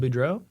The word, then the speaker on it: Boudreau: Budro.